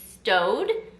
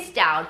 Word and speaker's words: Staud: want to always say stowed or Stout I want to say Stout but I believe it is pronounced stowed so I have seen